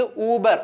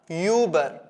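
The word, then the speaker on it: über: അത് എന്ത് ഡിഫറൻസ് ആണ് ഇത് ഉബർ ഉ എന്നുള്ള ശബ്ദത്തിലാണ് വരുന്നത് ഇങ്ങോട്ട് വരുന്ന സമയത്ത് അത് വായിക്കുന്ന യൂബർ യൂബർ ഓക്കേ അതായത് ഒരു യു എന്നുള്ള ശബ്ദം നിങ്ങൾ അവിടെ കൊടുക്കുന്നുണ്ട് സോ ഉബർ യൂബർ ഉബർ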